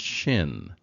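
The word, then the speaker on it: שׁ: is pronounced sin and this is pronounced Shin so if you think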